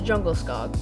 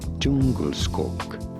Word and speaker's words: Djungelskog: This is the Jungle Skog, or, as it's pronounced in its homeland of Sweden, Djungelskog.